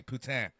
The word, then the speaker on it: poutine: What the hell is poutine? It's Quebec. Am I pronouncing that right? Food, basically. Poutine.